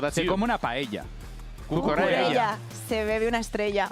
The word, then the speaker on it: paella: paella. Paella. It's not paella. It's paella. Paella.